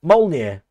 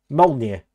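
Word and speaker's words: Mjölnir: Molnir. Is that what you mean? Forsammer. Molir. But it's spelled like M OJ.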